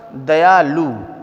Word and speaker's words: दयालु: अब यहाँ पर दयालु, अगर आप प्रोनाउंसिएशन करेंगे तो यहाँ पर लघु ऊ की मात्रा ही आएगी।